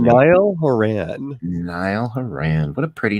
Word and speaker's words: Niall Horan: DJ, how do you pronounce that first name? Niall Horan.